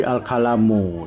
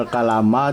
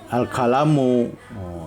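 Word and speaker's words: الكلامُ: Ya, karena dia mubtada jadi al-kalamu. Tidak boleh dibaca al-kalama, tidak boleh dibaca al-kalami. Jadi al-kalamu. Jadi bacanya al-kalamu.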